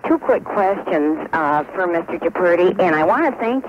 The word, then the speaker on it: Giuffrida: My name is pronounced Giuffrida. Oh, I beg your pardon. Yeah, it's a proud Italian name.